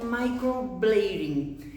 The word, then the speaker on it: microblading: pronuncia tá o nome se escreve microblading mas se pronuncia microblade enrolando o final na língua mesmo tá gente Então microblade esse é o certo de se pronunciar ok porque é